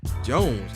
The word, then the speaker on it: Jonze: This version even had its own music video directed by Spike Jonze, how you pronounce that, J-O-N-Z-E, which was nominated for Best